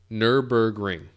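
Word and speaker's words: Nürburgring: spot no just kidding nurburgring nurburgring yep okay thank you nurburgring now say it with a german accent and then you'll find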